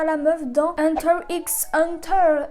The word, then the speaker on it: Hunter x Hunter: Ouh, je ressemble encore à la meuf dans Hunter x Hunter. Et oui, je dis le X même s'il ne se prononce pas.